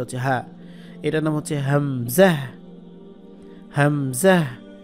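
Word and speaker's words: همزة: এটার নাম হচ্ছে হামজাহ, হামজাহ। উচ্চারণ কিন্তু ওই আলিফের যা ছিল তাই, এই যে আলিফে যেমন আ এ ও, তার নাম হচ্ছে হামজা, বাকি উচ্চারণ হামজা জবর আ আ এ ও এরকম হবে।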